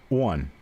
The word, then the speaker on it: on: and in Virginia but when they say on like the letters O n put together like on the bridge or on the stove they will say one it's almost like it's wo n instead of just Oh n it's one it's like